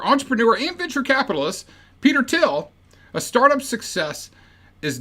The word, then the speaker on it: Thiel: I might say Peter Theil a couple of times because that's how it's spelled, but it is pronounced Thiel as far as I'm concerned.